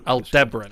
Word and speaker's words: Aldebaran: By the way, it's pronounced Aldebaran.